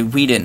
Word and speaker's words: Whedon: I say Whedon.